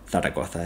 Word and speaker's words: Zaragoza: with Aragon's largest city, Zaragoza, or Zaragoza if you want to pronounce it like a madrileño, only having 667,000.